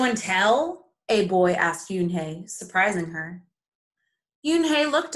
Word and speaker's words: Unhei: no no hey corrected it's spelled u n h e i it's pronounced yoon hey and she did it in a very polite way oh it's you hey the boy said like